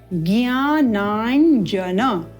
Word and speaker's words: ज्ञानांकुर: जन इस प्रकार से तो इसका उच्चारण हम न के रूप में ना करें इसका उच्चारण य है और उच्चारण में भेद इसीलिए है कि ये तालू से उच्चारित होता है ज्ञाना जन उत्तम इसका अभ्यास करना